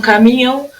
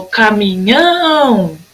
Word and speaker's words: caminhão: E no caminhão, o caminhão, o nhão.